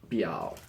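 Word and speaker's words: 表: We just add this character, and it's pronounced biao.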